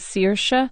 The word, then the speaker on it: Saoirse: put her name is Saoirse Ronan Saoirse but actually the Irish way to pronounce it is Saoirse Saoirse Ronan and I